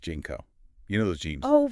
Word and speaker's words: JNCO: about is jnco jeans jnco yeah pronounced jeno you know those jeans